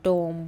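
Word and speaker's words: tomb: बोला जाता है अह इन the word given below the letter B is silent जैसे कि वो बॉम टोम बॉम क्लाइम कोम।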